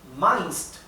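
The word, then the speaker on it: meinst: opinión al respecto vas min do vas Mind do nuevamente Recuerden que la e con la i en alemán se pronuncia a vas qué piensas tú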